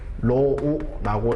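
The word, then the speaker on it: ρ: 그래서 얘를 다시 한번 적어보면 로우라고 읽어주시면 됩니다. 로우.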